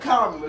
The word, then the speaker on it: Kamala: How are y'all feeling about the candidacy of Kamala Harris? Kamala. Get her name right. I thought it technically pronounced Kamala, but it's Kamala. Kamala. I've heard her say Kamala. Kamala. She said it on Good Morning America.